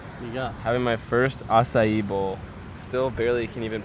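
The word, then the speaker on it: açaí: Having my first acai bowl. Still barely can even pronounce it.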